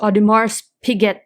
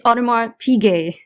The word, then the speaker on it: Audemars Piguet: stitched that and this this kid say uh look at this mars piguet that i have and he he stitched it in it's audemars piguet so i think those